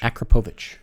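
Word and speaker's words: Akrapovič: titanium acrobovich exhaust what acrobovitch acropovich okay or acropovic depending on how you want to pronounce it that is a very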